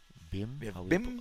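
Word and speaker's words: Bhim: I think here BIM. How we pronounce that? BIM. Yes, we have BIM.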